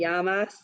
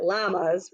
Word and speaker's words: llamas: for the week isn't that so cute komote yamas make sure you don't pronounce it llamas right everyone so when we click here we'll